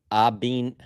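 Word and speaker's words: Abanikanda: I think it's Abinkanda, but in the pronunciation guide, it's Abnikanda. I'm pretty sure there's like a long like there's a double E, but we've been calling him Abinkanda.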